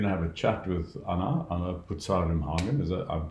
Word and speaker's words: Anna Pucar Rimhagen: Right, so today we're going to have a chat with Anna Pucar Rimhagen. I'm pronouncing it correctly, right?